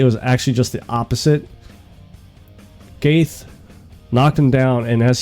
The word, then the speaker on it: Gaethje: But Gaethje, that's how you're supposed to pronounce it.